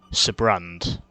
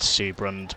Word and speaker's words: Sibrand: meet our final target, Sibrand, or Seabrand, I think is how you pronounce it. No, I think it's pronounced Seabrand, but I don't know for sure.